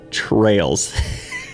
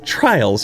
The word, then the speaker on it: Trails: Welcome back to Project 13, the Taxidermy Trails. I was mispronouncing it the entire last video of this recording. I thought it was Trials for some reason, but the nightmare's not over.